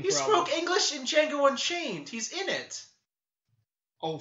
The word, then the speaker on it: Django: It's Django, the D is silent.